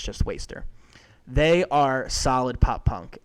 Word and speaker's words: WSTR: So the first one for me is called Waster, and it's spelled WSTR in all caps. Waster, it's meant so you take out the A and you take out the E.